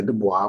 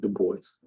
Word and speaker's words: Du Bois: Some people say Du Bois, but that's not how you pronounce it. You do pronounce it Du Bois.